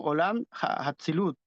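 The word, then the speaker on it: עולם האצילות: Llamado Atzilut, pronunciado en hebreo como Olam Hatzilut.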